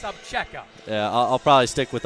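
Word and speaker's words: Obzera: I mean, it's spelled O-B-Z-E-R-A, pronounced Abcheka.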